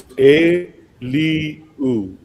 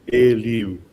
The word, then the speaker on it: Eliu: Eliu? Oh gosh, you got to help me out, Wati. It's Eliu. Eliu.